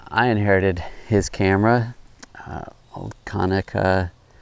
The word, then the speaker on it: Konica: inherited his camera, old Konica. I hear some people pronounce it Konica, auto reflex T.